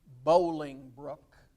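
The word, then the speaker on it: Bolingbroke: henry iv or henry bowlingbrook spelled broke but pronounced brook b-o-l-i-n-g k b-r-o-k-e bowling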